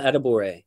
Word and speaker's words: Adebawore: Adebawore. Adebawore.